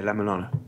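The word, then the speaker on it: La-Mulana: obscure Japanese but uh yeah la Milana okay it's a game how do you spell it La Milana La is in French LA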